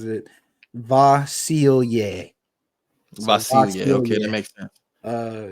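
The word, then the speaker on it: Vasilije: for the record Pro uh pro basketball reference pronounces it vasil vasil okay that makes uh yeah so per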